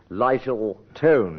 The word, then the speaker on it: Lyttleton: Oh, mine actually is Lyttleton is the pronunciation.